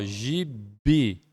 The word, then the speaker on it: gibi: Gibi, ó, gibi. Esta é uma oxítona, a sílaba tônica é o I.